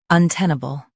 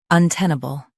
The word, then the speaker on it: untenable: untenable Now read the syllables shown on the screen naturally. uh ten uh bull untenable Stress ten and keep un and bull soft.